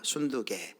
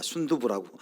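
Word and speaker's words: 순두게: 여기 유오디아, 순두개, 이 사람은 이제 빌립보 교회의 지도자입니다. 일부 때는 이 발음을 잘못해가지고 유오디아와 순두부라고 잘못 발음했는데 순두부가 아니라 영어는 신디케, 순두개인데요.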